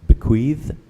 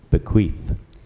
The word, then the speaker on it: bequeath: We're looking for the spelling to bequeath, also pronounced bequeath, but preferred pronunciation is bequeath.